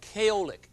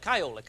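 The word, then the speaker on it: Kyolic: Since that time, we have learned that there's a chemical in garlic called kaolic, K-Y-O-L-I-C. Kaolic, I guess is how you pronounce it then, isn't it?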